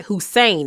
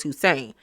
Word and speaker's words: Hussein: So then we are greeted by Hussein. That's how you said pronounce his name. In my Meet the Guys video, I did not know how to pronounce that man's name, but it's Hussein.